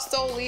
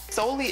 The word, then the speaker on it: Soli: says so we're gonna do a dance called slowly it's spelled s-o-l-i solely is actually a circumcision that um too much